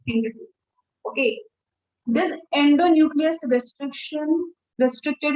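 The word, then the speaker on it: HindIII: See, many people pronounce it in a very different way. I prefer hind. I don't know. It's easy to say.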